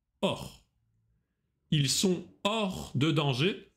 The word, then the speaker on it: hors: Hors. Вне. H не читается. Hors.